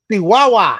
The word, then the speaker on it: Chihuahua: Chihuahua. Chihuahua. But it is spelled Chihuahua for all you gringos out there.